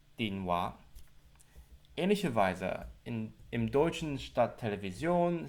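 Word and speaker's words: 電話: Aber auf Kantonesisch muss man nicht die japanische Aussprache Denwa sagen, sondern schlägt man die entsprechende kantonesische Aussprache jedes Zeichens nach und sagt Dinwa.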